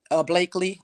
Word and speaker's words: Blakely: Blakely, that's how you say her name.